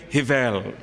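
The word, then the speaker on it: Rivail: falam francês dizem que a pronúncia correta seria rivel mas como meu francês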